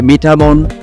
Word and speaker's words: মিঠামইন: এটি একটি প্রাচীন জনপদ মিঠামুইন কে অন্যান্য নামেও ডাকা হয় তার মধ্যে মিঠামোন মিঠামীন বা মিঠামন বলে উচ্চারণ করা হয়ে থাকে নামের উৎস নিয়ে যে